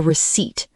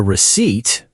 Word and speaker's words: receipt: Be careful, the P is silent.